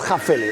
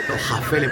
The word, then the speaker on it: Häfele: al principio del vídeo es jaele jaele y es jef jeele jaele de hafele hoy he flipado viendo